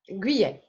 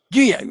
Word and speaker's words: Guyet: Pronounce your last name. Guyet. Guyet.